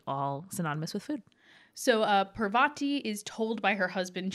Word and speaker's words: Parvati: read Harry Potter as children and formed our pronunciations then yeah well so we are learning sorry we're doing our best so it's Parvati Parvati umm so Annapurna's name means filled with food